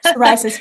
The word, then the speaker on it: psoriasis: Psoriasis.